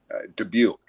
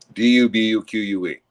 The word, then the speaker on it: Dubuque: Dubuque. It's a French name. Dubuque. Dubuque.